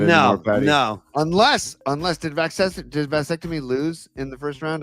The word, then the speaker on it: vasectomy: So I like the way you pronounce vasectomy instead of vasectomy. You say vasectomy. I dig that. You got to emphasize the va because all right.